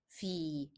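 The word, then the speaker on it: في: Both of them are ending in ye, but the first one is pronounced as a because it is preceded by a letter carrying fatha. However, the second one is pronounced as e because the preceding letter is carrying kasra.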